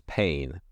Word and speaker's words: Payne: whose last name was Payne. It was spelled P-A-Y-N-E, but pronounced the same as the English P-A-I-N.